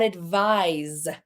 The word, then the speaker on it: advise: We've got advice and we've got advise. Soft C and the S makes a Z sound there.